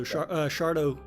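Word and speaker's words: Sharlto: end up happening to how do you pronounce it, by the way? Shartlow, right? Yeah, I believe so. Shardo Copley. Shardo Copley, there we go.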